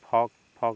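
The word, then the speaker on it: folk: talk means बातचीत करना इसके बाद यहां एल साइलेंट हो जाएगा इसको पढ़ेंगे फॉक फॉक मींस होता है लोक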